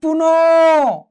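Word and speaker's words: পুনঃ: যেমন দেখো পুন, পুন, এখানে কার মতো হয়েছে? ও এর মতো হয়েছে।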